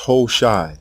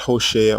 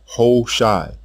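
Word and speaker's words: Hushai: The king's name is pronounced hosshai, not hosa or hawashi. Hshai.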